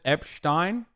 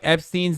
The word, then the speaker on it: Epstein: becomes pm uh pronouncing Epstein's name like Einstein famous anti-semitic Trope I say it all the time in Turkish it's Einstein and Epstein like that it's that's how you say it in Turkish I don't know why